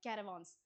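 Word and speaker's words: caravans: ये कैरावां भी एक्चुअली हिंदी से ही लिया गया है, बट इसको इसका प्रोनाउंसिएशन क्या है? कैरावांस, ठीक है ना।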